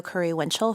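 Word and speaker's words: Curry-Winchell: you for your time foreign I'm Dr Curry Winchell for the record I'll spell it it's quite long so bear with me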